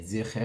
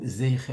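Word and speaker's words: זכר: dernier pasouk pour dire Timhe et Zecher Amalek ou Zeicher Amalek, étant donné que dans la coutume ashkénaze, on a souvent l'habitude de dire le Tsere avec le Yud qui, dans la coutume sfarade, est muet, on a l'habitude de le prononcer.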